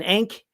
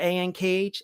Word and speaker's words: ankh: has as well yep an ink is how you pronounce that a-n-k-h and ink i don't know it works an ankh i loved that